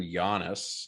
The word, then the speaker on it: Yanes: but uh yeah so my name is giannis so like the basketball player that's usually what i